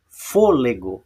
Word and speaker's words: fôlego: Fôlego, viram? Então, a sílaba tônica da palavra fôlego não é o gó, não é a última, nem a penúltima, ela é a antepenúltima.